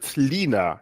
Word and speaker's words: Lena: Sorry, sorry, before I butcher her name even more, it's Lena Kahn, not Linda.